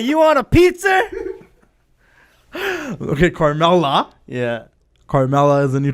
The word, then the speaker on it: Carmella: Yeah, and it's Carmella. Carmella. What are you, from Boston? New York? Hey, Carmella, you want a pizza? Okay, Carmella.